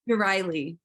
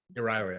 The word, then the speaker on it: Euryale: Erastus, of, Stheno has Medusa, and I can't pronounce her name again. Which one? Her Stheno sister and Medusa sister. Euryale. Euryale, I should remember. Yes, Euryale.